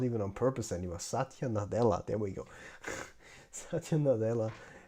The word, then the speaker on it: Satya Nadella: That's the thing, like Satya Nutella.